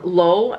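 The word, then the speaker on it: Loewe: All right, and last but not least, we have a scent that is inspired from Lowe. It's spelled L-O-E-W-E. I think that's how you say it.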